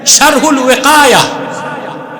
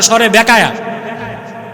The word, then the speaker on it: শারহুল ওয়াকায়া: আর সরে বেকায়া কিতাব নাই তো, শারহুল ওয়াকায়া, শারহুল ওয়াকায়া, এটারে বলে সরে বেকায়া।